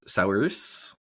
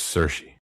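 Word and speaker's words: Saoirse: Are you joking or you don't know how to pronounce her name? Si. It's Cersi.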